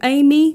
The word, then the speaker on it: Ami: under the name of amy music with amy being spelled with um spelled as ami and is spelt